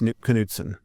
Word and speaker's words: Knudsen: So the arm on the guitar, that was developed by a guy named Kris Knudsen. He pronounced the K, and then was refined and manufactured by the Larson brothers.